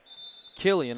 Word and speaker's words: Killian: going to be samantha killian i believe that's how you say it kill him yes that is exactly